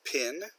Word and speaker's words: PIN: Of course, PIN, we pronounce it like a word, stands for Personal Identification Number.